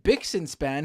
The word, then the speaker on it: Bixenspan: me today on the program is journalist David bixenspan who let me know that by the way